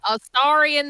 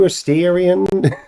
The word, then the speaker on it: Astarion: I would Clearly you pronounce don't it know. Baldarian. You're the Baldarians, you? Astarion the Baldarian.